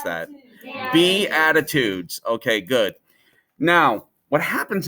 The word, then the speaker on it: Beatitudes: A lot of people didn't know how to pronounce that. Beatitudes.